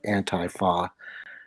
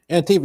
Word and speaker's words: Antifa: And I'm sorry, I always mispronounce this because I go anti-fa, because it's anti-fascist.